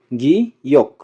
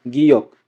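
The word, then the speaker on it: 기역: আর এটার উচ্চারণ হবে, তিনটা উচ্চারণ হবে, গ, খ, ক।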